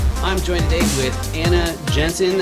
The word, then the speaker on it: Jensen: I'm joined today with Anna Jensen. Is that right? Is it Jensen? It's not Jensen. It's not saying. Did I pronounce that right? It is Jensen. Yes.